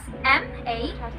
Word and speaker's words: manibrong: Okay, how do we pronounce it? We have the M sound. It is a voiced bilabial nasal, wherein the sound produced when the oral passage is blocked by closing the lips.